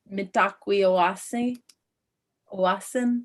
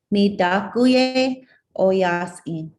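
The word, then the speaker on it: Mitakuye Oyasin: Laura spoke very eloquently about Mitakwi Owasin, sorry, the N is silent. Please, Laura, help me one last time. Midakuye Oyasin.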